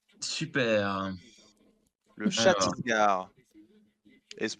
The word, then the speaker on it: Chhattisgarh: L'État indien que je te demande d'orthographier est le Chhattisgarh. Super. Le Chhattisgarh. Et se prononce comme ça.